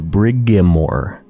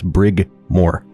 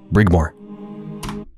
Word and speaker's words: Brigmore: which for some reason i always want to pronounce the brigamore brigamore witches but there's no i there or anything it's brig moore brigmore a save game if